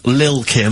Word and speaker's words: Lil Kim: I'm pronouncing that correctly, Lil Kim. Oh, no T's involved.